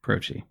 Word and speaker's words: Croce: Croce.